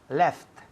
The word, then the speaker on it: left: Left. Left, para que se oigan la T, la última letra.